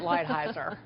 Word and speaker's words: Lighthizer: Chris, we get a pass because we're Southern and we mispronounce things anyway, but it's Robert Lighthizer.